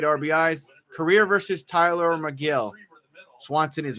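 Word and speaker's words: Tylor: It was Tyler who decided that he wanted his name pronounced Tyler. His parents put the O in the name, but they originally pronounced it Pitch.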